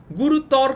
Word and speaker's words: গুরুতর: ঠিক আছে, গুরুতর কিন্তু আমরা বলি না, আমরা বলি গুরু ত রো, গুরু ত রো। ঠিক আছে, অটাকে ও এর মতো উচ্চারণ করি, অকে যদি আমরা ও এর মতো উচ্চারণ করি তাহলে সেটা কি হয়?